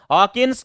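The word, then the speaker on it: Hopkins: है बच्चों तो हॉकी हॉकिंस को इंग्लिश में लिखते समय होपकिंस लिखा जाएगा बच्चों के एब्सेंट होता है ना यानी साइलेंट होता है वैसे ही क्या है यहां पर पीस साइलेंट है तो विटामिन की खोजकर्ता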